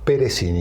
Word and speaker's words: Peressini: Nos acompaña Ezequiel Piricini. ¿Cómo se dice tu apellido? Perecini. Perecini. Está bien. Está por ahí.